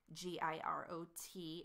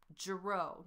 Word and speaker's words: Girot: opaque French spelling, like my name, Girot, G-I-R-O-T, is pronounced Girot, not Girot, because it's French.